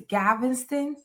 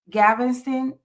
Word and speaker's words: Galveston: And am I saying it right, Geezy? It's Galveston. Yeah, you're saying it right. Galveston, Texas.